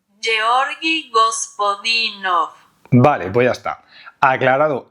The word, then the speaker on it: Georgi Gospodinov: alguien tiene alguna duda de cómo se dice esto en búlgaro, lo he buscado, se dice así, atención. Georgi Gospodinov.